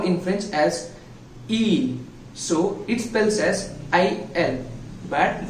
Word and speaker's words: ils: It pronounces same as in singular form, but we need to but spells different. That is ils, ils.